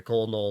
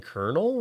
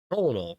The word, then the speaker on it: colonel: I like the colonal and all that. Uh this person called and they were like, you mean Colonel? And I'm like, Colonel Colonel.